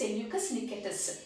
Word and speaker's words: Nicator: different from my pronunciation the correct pronunciation pronunciation is nikita nikita okay now who is